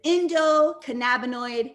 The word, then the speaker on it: endocannabinoid: way i i go so it's indo cannabinoid system so usually if it's